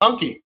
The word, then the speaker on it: Anki: How do you pronounce it, Josh? Anki.